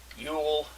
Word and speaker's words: Yule: christmas kwanzaa hanukkah festivus yule we call it yule because it rhymes with cool and you can say